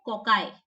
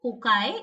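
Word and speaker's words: cocci: सी य एस और इसको प्लूरल फॉर्म में बोलते हैं कोकाय ठीक है क्या बोलते हैं कोकाय ये कैसा शेप होता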